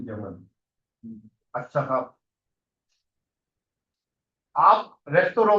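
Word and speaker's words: Restaurant: रास्ता रेस्टोरेंट नहीं है, गलत बोलते हैं हमने। रेस्तोरों होता है ना? रेस्तोरों फ्रेंच भाषा से आया है ये शब्द। सो वो अब इंग्लिश वाला ही प्रोनाउंसिएशन इंग्लिश वाली होती है। हाँ, फ्रेंच वर्ड है तो फ्रेंच, फ्रेंच वाली वो आएगी रेस्तोरों, है ना?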